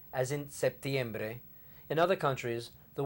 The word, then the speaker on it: septiembre: letter P as in septiembre in other countries the word is written without the P as in setiembre in that case the P is not pronounced either ahora vamos hacer